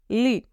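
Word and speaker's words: lit: very good next is ली बेड को हम French में ली बोलते हैं ली यहां पर हम टी को प्रोनाउंस नहीं करेंगे ओके ली उसके बाद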